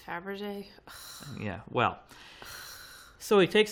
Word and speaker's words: Fabergé: my pacifier oh no he pronounces it for Burge oh man Garibaldi pronounces it for birth this kid he's pretty smart forever a baby I mean yeah but he doesn't even know how to pronounce Faberge yeah well so he